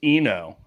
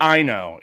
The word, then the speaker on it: Ino: I think it's just Ino, I-N-O, or Yuki Ino. It's Ino.